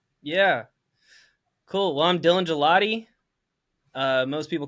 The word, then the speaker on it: Gigliotti: Well, I'm Dylan Gigliotti. Most people call me Dylan Gigliotti, but it's actually pronounced gelati, like the ice cream.